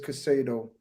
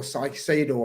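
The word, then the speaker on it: Caicedo: hold tight I'm telling Moises Casino or psychedo apparently is how you say it's Moises apparently um please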